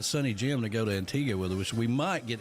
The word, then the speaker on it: Antigua: Now, the proper way to say it is Antigua. It's Antigua, not Tigua.